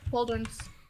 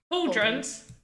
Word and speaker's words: pauldrons: Pauldrons. Cauldrons? Mm-hmm. Cauldrons? Oh. Like little miniature cauldrons? Not cauldrons. Pauldrons for the shoulders. I don't know if I'm saying it incorrectly. Maybe I am. Oh, yeah, you are saying it correctly.